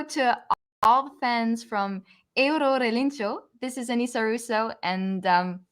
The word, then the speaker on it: Eurorelinchu: Eurorelinchu, or how do you pronounce it? Eurorelinchu.